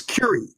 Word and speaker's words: Curie: Is it Keurig point? Yeah, I never spell it right. It's Keurig. Like the coffee maker?